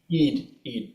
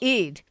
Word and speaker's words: Eid: Eid, but close. Eid.